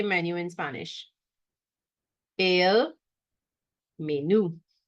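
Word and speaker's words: menú: menu in Spanish a menu right menu with an accent on the U to put the stress on you right menu all right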